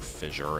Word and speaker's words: fissure: of fer working or fissure as people say it's pronounced I always say fisher I don't know uh